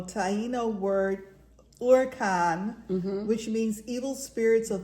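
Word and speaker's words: huracán: um from the 1550s a partially deformed adoption of Spanish uran because H is silent right uran uh Gonzalo Fernandez deoo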